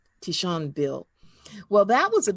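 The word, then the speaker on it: tignon: t-i-g-n-o-n but it's pronounced because it's french it's pronounced tishan tishon bill well that was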